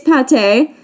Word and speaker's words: Pate: next up is pate which seems like it should be said as paige with how it's spelled but animal crossing never uses accent marks so apparently it's pate which by the way